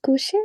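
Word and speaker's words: couchez: Is it couché or is coucher. Coucher, Couche. très bien, oui. So why is it couché? It's because the E and Z together is pronounced E.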